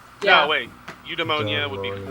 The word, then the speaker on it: Eudaimonia: There's a plethora of ways you can pronounce it. They all work. Even if you Google it and you play it, you'll get multiple variations. It's either Eudaimonia, Eudaimonia, anyone works.